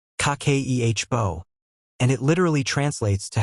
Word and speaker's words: Kakeibo: It's called Kibbo, pronounced kake ehbo, and it literally translates to household financial ledger.